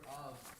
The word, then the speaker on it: of: Because the F is in the word of, the F is pronounced like a V.